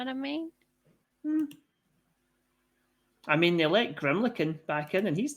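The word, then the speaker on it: Grimalkin: m yep a l k i n it's pronounced grimlin grimlin okay there you go yeah it's based on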